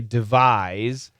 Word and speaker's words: devise: that's a z okay devise and device is a noun and that is an